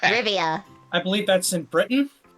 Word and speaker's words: Rivia: I keep wanting to say Riviera, and I know that's not fucking correct. Rivia.